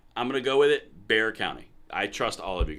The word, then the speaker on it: Bexar County: that reference good movie It's pronounced beay County okay fine I'm gonna go with it Bear County I trust all of